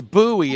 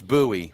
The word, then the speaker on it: Bowie: Just see, It's Bowie, isn't it? It's not Bowie. It's Bowie, right? Yeah, it's Jim Bowie. Jim Bowie. Spelled the same.